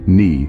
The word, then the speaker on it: knee: Words like knee, gnome, honest, and psychology can really throw you off. Remember, the K in knee is silent, just like the G